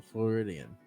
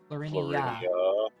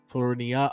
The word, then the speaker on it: Florinia: Floridian? How do you pronounce it? Florinia. Florinia. Oh, my bad. I think I've always heard Josh say it. I think I've just mentally always heard a mispronunciation.